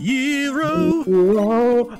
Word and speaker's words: gyro: Although it's technically pronounced gyro. Although I still want to call it a gyro because it sounds that's cooler.